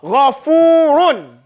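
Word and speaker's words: غَفُورٌ: My point is that when you see this, you don't pronounce it like you say gay or anything like you say gha. It's still gha. Okay? Gha. Ghafurun.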